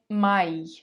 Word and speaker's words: Mai: Now, when either a and I come together or a and I come together, it's pronounced as the English word I. For example, der Mai, der Mai.